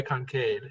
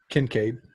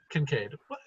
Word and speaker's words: Kincaid: work are fired by concave if he fires a weapon then you know that it's gonna do some damage Kincaid Kincaid we're slowly improving your pronunciation yeah because reason fer